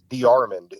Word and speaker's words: D'Armond: Our family name is D'Armond, or that's how we pronounce it. Now we all live in Texas. Right. In Texas, but I've heard that name before. Yeah, D'Armond is the French pronunciation of it.